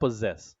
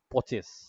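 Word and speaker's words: possess: হ্যাঁ, পজেস, এটার উচ্চারণটা হয় পজেস। সো আমাদের ক্লাসের কৃতি ছাত্ররা এটা উচ্চারণ করেছিল পচেস। Like, so তারা এটা উচ্চারণ করে পচেস, পজেস না। এরকম আরো অনেক নতুন নতুন স্পেলিং শিখতেছি আমি রিসেন্টলি।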